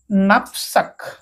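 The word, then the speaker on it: knapsack: বসিবা ওকে আগুক এখন এ কেকু সাইলেন্ট করি নাফসাক নাফসা আর অর্থ পিঠ নাফসক কেকু সাইলেন্ট করি ওকে দেখতো আগুক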